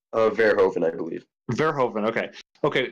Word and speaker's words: Verhoeven: How do you pronounce his name? Verhoeven, I believe.